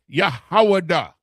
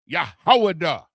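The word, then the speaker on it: יהודה: Which is the proper pronunciation of the word Judah, because this is how it's spelled.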